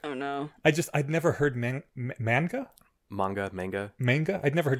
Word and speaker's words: manga: I'd never heard manga. I'd never heard manga before. I'd always heard people say manga, so that's because that's how if you're phonetically saying it, that's how it's said in Japanese.